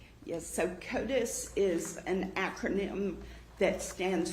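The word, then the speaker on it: CODIS: So, Kotus is an acronym that stands for the combined DNA indexing system.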